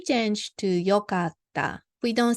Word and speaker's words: よかった: So, E change to よかった。We don't say いかった。よかった。So, same way works かっこいい because here EE, double EE.